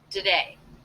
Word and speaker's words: today: The other thing I noticed is that the T here is really more of a flap sound, a D. Do-da, do-da, do-today. This is most definitely a schwa, so we're reducing this unstressed syllable to be the schwa.